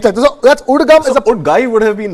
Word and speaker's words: UDGAM: The Reserve Bank of India has now set up a web service, a web portal called, it's pronounced, we can pronounce it as UDGAM.